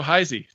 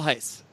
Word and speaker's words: Hice: to lean on hi Z to do the convincing there excuse my consultant it's how do you say it it's hice hice why does he have the e on the end he didn't put it